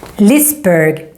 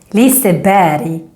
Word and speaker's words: Liseberg: Lisberg is wrong. Liseberg is right.